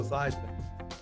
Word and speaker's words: Theismann: we think by simply changing your name from easement to this rhyme with eyes we can get you that trophy that's how i wound up becoming joe theismann your time is is